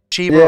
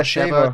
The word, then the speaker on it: Sheva: Shiva or Sheva, depending on how you pronounce it.